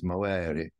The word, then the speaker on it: movere: I think the Romans would have pronounced it like the Italians, movere.